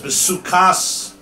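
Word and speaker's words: בסכת: The Chachamim argue, and they say that no, besukas, besukkah is teishvu is written without a vav, meaning it could be pronounced as besukas, not besukkah is teishvu shivasam, but besukas.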